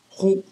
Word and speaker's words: 糊: 这个 " 烩 " 字是个多音字，比如可以念一声 " 呼 "，比如说脸上糊了